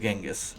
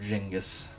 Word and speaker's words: Genghis: Số bốn là genghis hoặc jingus, tôi nghĩ đó là phát âm là genghis tôi phải nói với